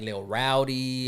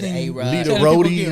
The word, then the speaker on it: Lita Rodi: And so I just changed some letters around for it to be pronounced like Literati.